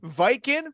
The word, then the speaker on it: Vykin: Beautiful Dreamer, Big Bear, Mark Moonrider, Seraphan, Viking, which is spelled Vykin, which is not how you expect that to be spelled.